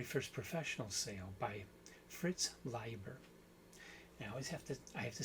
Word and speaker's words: Leiber: I want to talk about the very first story, very first professional sale by Fritz Leiber.